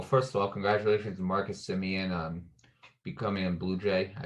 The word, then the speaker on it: Semien: deal um in 2019 marcus simeone that's how i that's that's how it's actually pronounced so my bad if